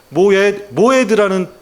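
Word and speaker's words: מועד: 여러분 절기라는 것은 히브리어로 모헤드라는 뜻을 그 발음을 갖고 있습니다. 우리 같이 한번 따라해 볼까요?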